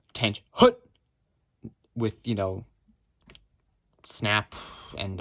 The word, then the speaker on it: attention: you don't call the command fight attention it's pronounced tan hoot with you know snap and all that good